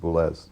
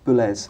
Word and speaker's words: Boulez: It's pronounced Boulez. Boulez.